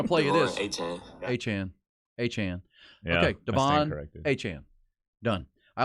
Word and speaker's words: Achane: Devon Achane.